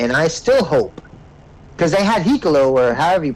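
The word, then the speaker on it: Hikuleo: hoping, and I still hope, because they had Hikolo, or however you pronounce his name. Hikaleo.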